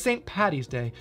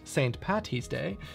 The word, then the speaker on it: St. Paddy's Day: English, you know that we don't pronounce our T's as heavily as our D's.